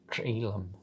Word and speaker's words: Jhelum: That's how people pronounce it, so Jhelum.